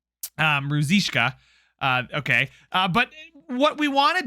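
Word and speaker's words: Ružička: So I now know how to say his name correctly. Ruzishka.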